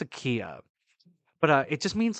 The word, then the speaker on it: Akiya: And they have a word for abandoned homes out in Japan, and it's either pronounced Akiya or Akaya. I think it's Akiya.